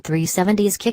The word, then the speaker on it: 370Zki: to flat-foot the Nissan 370's Ki concept out of a corner in the mountains of eastern Idaho. The 370's Ki, pronounced 370 ski, is the end result